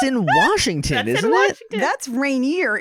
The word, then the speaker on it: Rainier: assume that you met rainier the volcano to be fair i've also heard a bunch of people who don't know how to pronounce rainier call it rainer including my mom you'll